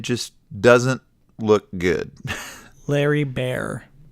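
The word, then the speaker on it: Baer: doesn't look good Larry bear b-a-e-r I assume that's pronounced Bear yeah so I don't know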